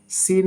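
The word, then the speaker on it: scene: সাধারণত S plus C যদি থাকে ওয়ার্ডের ভিতরে তাহলে সাধারণত সির উচ্চারণ হয় না। যেমন সিন মানে দৃশ্য।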